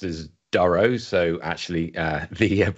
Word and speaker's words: Durow: foreign commonly pronounced as Duro so actually uh the app pronunciation of names